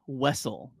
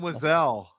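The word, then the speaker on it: Wesell: That's good old Zam Wessle. That is how I say her name. Oh, I thought it was Zam Wiselle. That's what I thought.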